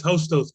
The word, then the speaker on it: Hostos: president of student development and enrollment management at hostas am i pronouncing that correctly yes hostos community college yes hostess community college and uh